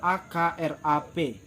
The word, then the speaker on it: akrab: krts kertas yang ketiga kata akrab cara pengucapannya yaitu akrap akrab jadi b nya nggak tampak dan yang keempat kata